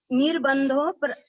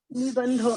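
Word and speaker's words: निबन्धो: श्रुति निबंधो, मति श्रुतयोर निर्बंधो द्रव्य पर्यायेषु निर्बंधो नहीं है निबंधो निबंधो जी, निबंधो है ना।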